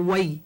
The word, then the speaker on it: wai: it right you see the word for water is V or way either way okay okay Aloha you